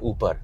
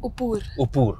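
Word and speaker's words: Uppar: So when you started going to academy, and you've mentioned in previous interviews as well, that coach Kiran Upar, is that the correct pronunciation? Upur.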